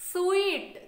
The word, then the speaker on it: suite: This is स्वीट, this is स्वीट।